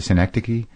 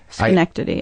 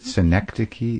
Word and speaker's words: Synecdoche: How do you say it? Synecdoche? Yeah. I think you're almost there. Yeah. Schenectady, I think. It's not Schenectady, is it? Is it Synecdoche? Maybe I'm wrong, Schenectady is an actual place.